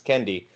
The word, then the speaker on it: Kendi: And like Ibram X. Kennedy says, or Ibram X. Kendi, always mispronounce his name, he says that the